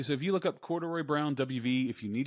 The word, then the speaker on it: Corduroy: So it's super simple with 3 syllables. It's cord, the letter U, and Roy.